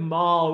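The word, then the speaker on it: Moll: place called the lamentable city of mall is that how you say it rhyming with doll yeah m-o-l-l the lamentable city of maul which is built on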